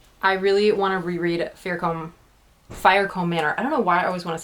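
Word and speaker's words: Fiercombe: But every time I see IE, I want to just say E, and like vice versa. EI is pronounced I. And so I always want to say Firecombe, but it's Firecombe.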